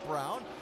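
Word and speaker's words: Braun: Yes, I know the way it's spelled. He pronounces it Brown.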